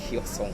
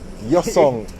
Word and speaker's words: Hyosung: How you pronounce? Hyosung. Hyosung.